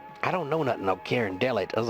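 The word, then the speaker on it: Carondelet: at me and he says the road called Karen delot I said Karen delot I don't know nothing oh Karen Del it I was like how do you spell that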